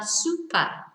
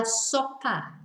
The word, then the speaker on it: sopa: soup they say la super of it's not La super it's La sopa but not soap you know so it sounds like soap the way we pronounce it La SOPA uh but it's not